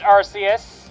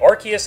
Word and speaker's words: Arceus: Yes, and it is pronounced Arceus. Actually, it's both ways. Believe it or not, it's actually both ways. They say I think they say Arceus in the movie, and then they say Arceus in Battle Revolution.